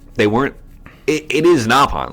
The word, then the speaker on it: Nopon: Napon. Uh-oh. Napalm, yeah. They actually pronounce it Nopon in Xenoblade Chronicles X.